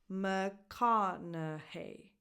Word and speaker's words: McConaughey: The stresses go on ka and hey at the end. McConaughey.